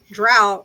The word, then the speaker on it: Drow: They're Germanic dark elves, and Drow is how you pronounce. Is basically how the Germanic word is pronounced.